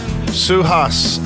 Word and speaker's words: Suhas: Suhas out of Westlake. Have I pronounced that correctly?